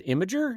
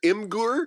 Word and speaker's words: Imgur: first of all uh you pronounced I Imgur as imager is that how you pronounce it there's a big debate on the site it it's it's either imur or imager uh and and and